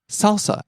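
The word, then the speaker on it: サルサ: Next, we have salsa as in the dancing falling on the second syllable and staying low.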